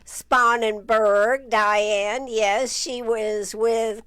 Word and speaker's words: Sponenberg: Sponenberg. Sponenberg, Diane.